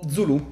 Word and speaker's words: Zulu: del 1800 nel cuore dell'impero sulu o zulù se vogliamo pronunciarlo come gli europei dell'epoca che usavano questa parola anche come offesa quindi la pronuncia remo con la dizione più moderna comunque chi sono queste